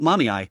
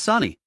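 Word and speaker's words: Sunny: It's not Mommy, it's Sani. How can you get both syllables wrong when there are only two?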